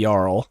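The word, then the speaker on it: Jarl: So, here uh this is Carl the Yarl. I do need to rename him because apparently Yarl is spelled with a J.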